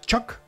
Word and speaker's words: Choke: Y ahora han sacado tema nuevo, Choc, así se debe pronunciar, Choque.